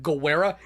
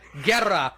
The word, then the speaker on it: Guerra: time, Thomas's last name, Guerra, meaning war, So he can look up what it means. So he can look up what it means, but not how to pronounce it. Guerra. Guerra. Roll the R.